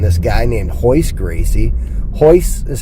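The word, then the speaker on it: Royce: the scene and this guy named hoist Gracie hoist is how it was pronounced but it was spelled with an arc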